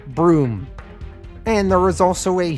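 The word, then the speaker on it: Bruttenholm: it would be pronounced Bruen home but it is pronounced broom and there is also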